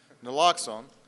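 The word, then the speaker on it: naloxone: of uh no nooon I want to make sure I was pronouncing that right so I talked to the expert noxon uh this is uh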